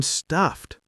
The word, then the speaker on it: stuffed: Stuffed. The FF is strong and the ED is soft.